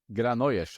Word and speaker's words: Granollers: Granollers, I think, yeah. The double L is a J, right?